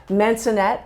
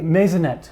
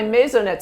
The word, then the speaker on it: maisonette: Am I saying it correctly? Masonet. Oh, meet. Masonet. Come to come to my mazonet, Susanna.